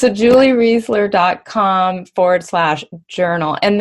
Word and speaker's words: Reisler: was pronouncing them incorrectly Reisler Reisler okay so it sounds like Paul Reiser who I love free I like this store I always say REI like the store I think it's a Julie Reisler calm forward slash Journal